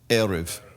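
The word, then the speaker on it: ערב: The root word means to mix or to mingle, arab, but here it's pronounced erev, because that's the evening.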